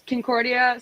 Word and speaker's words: Concordia: It's Concordia, St.